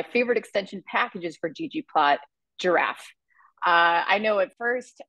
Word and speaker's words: ggiraph: I was pronouncing this GG iff uh but shortly afterwards learned that it's actually pronounced or intended to be pronounced as giraffe um so if you're